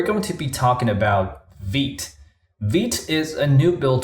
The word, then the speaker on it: Vite: go to the website vit is the French word for fast okay so um some some may pronounce it as Vite but um it's actually